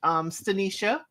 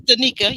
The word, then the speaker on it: Stanika: We see the first season, the couple that has worked, Stanisha. Mm-hmm. Did I say her name correctly? Yes, Stanika. Yep.